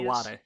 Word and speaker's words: Iwata: online about history of Nintendo and help me pronounce it's it's iwata satoru iwata yeah yes the president who passed away he